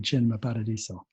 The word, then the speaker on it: Cinema Paradiso: pronounce c is ch so if you were pronouncing it in english it looks like cinema paradiso if you're telling me you say chin my paradiso antonio torre has done some other really nice